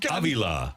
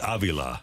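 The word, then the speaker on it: Avila: god oh man and it's Robbie Aila by the way that's the correct pronunciation Robbie Aila and they just had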